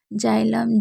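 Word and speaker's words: xylem: जैसे जाइलम, जीनोल, x ray तो इसमें आप जान सकते हैं कि सभी में शुरू में है तो हम क्या पढ़ रहे हैं? ज पढ़ रहे हैं।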